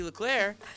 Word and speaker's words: Leclerc: it out Katie's mom Katie Lair is on Twitter K klair but it's spelled with a c at the end it's weird French people